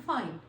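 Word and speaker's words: find: है फाइंड ठीक है फाइंड में हम लोग फाइंड ही पढ़ते हैं लेकिन हमने कैसे पढ़ते हैं फाइन ओके फाइन करना है फाइंड को हमने से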